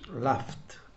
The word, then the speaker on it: laughed: So we pronounce like this, laughed. Why? Because it's F. The final sound is F, and then we have pronunciation of ED, T, laughed.